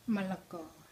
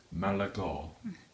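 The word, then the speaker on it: มะละกอ: Malago. Malago.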